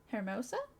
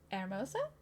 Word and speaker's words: hermosa: Okay, so it's silent, so it would be Hermosa?